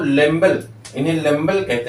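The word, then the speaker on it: Lambl: लेम्बल नामक साइंटिस्ट, इन्हें हिंदी में अगर लिखें इन्हें ऐसे लिखते हैं, लेम्बल। ठीक, लेकिन अब इनको इंग्लिश में दिया जाता है तो सब बी को साइलेंट कर देते हैं, लेम्बल कहते हैं।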